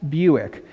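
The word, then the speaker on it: Bewick: about today is thomas buick his last name sounds like the car buick but it's spelled b-e-w-i-c-k buick was british he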